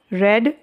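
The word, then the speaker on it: read: he will not have रीड this book this book will not आहा तो not have been रेड बाय हिम रीड को third form में रेड बोला जाता है स्पेलिंग सेम रहती है नेक्स्ट मिस्टर शर्मा विल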